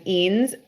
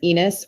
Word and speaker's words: Eanes: There's only two ways to mispronounce his name, and it's either as Enos or Anus.